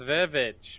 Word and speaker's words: The VVitch: And today we'll be doing The Witch, the first movie by No, it's VVitch, man. VVitch. The Witch. The VVitch. Huh? Yeah, it's double V. Itch.